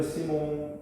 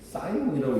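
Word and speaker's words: Simon: 피에르 시몬 라플라스 사이몬이라고 읽지 마세요. 프랑스 수학자예요. 피에르 시몬 라플라스라는 매우 위대한 수학자.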